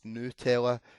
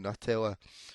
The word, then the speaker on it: Nutella: i'm not having this apparently it's nutella and 88 of us have been mispronouncing it saying nutella so what percentage of